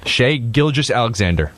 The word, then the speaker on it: Shai Gilgeous-Alexander: How do you pronounce his last name? For sure. Shai Gilgeous-Alexander.